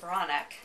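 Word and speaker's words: Breathnach: Her huge bestseller, Sarah Ban Bronick, that's how you pronounce her last name.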